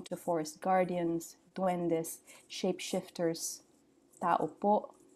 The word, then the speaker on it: tao po: Tao po, repeat it, accent on the last syllable.